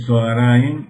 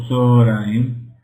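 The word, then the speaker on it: צהריים: Por ejemplo, hay una palabra que es, el mediodía se llama Zoraim, que se puede decir Zoaraim o Zoraim, porque son dos patas juntas.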